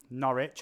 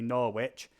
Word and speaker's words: Norwich: Norwich, or as the Americans say, Norwich.